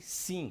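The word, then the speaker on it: שׂין: Quando você tiver essas duas formas e o ponto estiver do lado esquerdo, representará um S. Quando estiver ao lado direito, representará um SH. Esta forma chama-se sim, conforme está aí na apostila.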